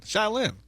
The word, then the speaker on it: Cheylin: Yes, I only know how to spell it. Well, SCH is CHEYLIN. Shylin.